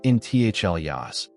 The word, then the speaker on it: intaglios: The Blythe intaglios, pronounced intaglios, stretch across gravel flats like pale ghosts.